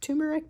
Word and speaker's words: turmeric: This is called the Turmeric. Sometimes pronounced turmeric, but there is an R in there, turmeric.